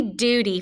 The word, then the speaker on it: duty: In the first syllable, we hear do. Now remember this U, if it's a long vowel sound, it can say U or oo. So in this word, that U is saying oo, like flew.